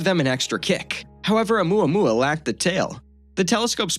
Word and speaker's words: 'Oumuamua: It was given the more poetic name of 'Oumuamua, which is pronounced "oh-mooah-mooah" and loosely translates to "scout" in Hawaiian.